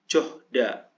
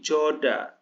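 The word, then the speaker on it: 좋다: kan kayak kayak ee Ini kan contohnya johda berarti Joda dibacanya ya silhoyo sirhoyo siroyo siroyo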